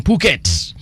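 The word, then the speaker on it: Phuket: morning to you too I checked in from Puket the H is silent all right so 1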